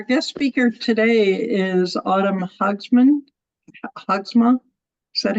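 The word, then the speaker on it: Haagsma: Our guest speaker today is Autumn Hogsma. Is that how you pronounce it?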